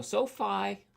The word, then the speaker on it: SoFi: So, Sofi Technologies. It's It's pronounced SoFi, but I I saw Sophie at first.